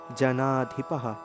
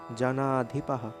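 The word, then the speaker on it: জনাধিপাঃ: নতুয়াম নেমে নতুয়াম নেমে জানাধিপাহ জানাধিপাহ এই যে এখানে বিসর্গ রয়েছে বিসর্গ উচ্চারণ হ এর মত বিসর্গের উচ্চারণ হ এর মত যেহেতু বিসর্গের আগের বর্ণের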